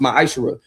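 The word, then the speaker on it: מעשר: Means tithe in Hebrew and it's pronounced ma'aser 10% of every penny of any increase the Lord gives you, you give to the treasury department or teacher.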